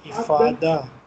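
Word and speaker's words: إفاضة: Fadden is how you say it? Ifada. Ifada. Ifada.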